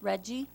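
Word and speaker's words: REDI: more except that right the acronym is Reggie region that's how we pronounced it uh Regional okay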